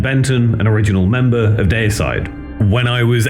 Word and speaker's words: Deicide: And if you're wondering why I'm pronouncing dayside like dayside and not dearside, well, that's because in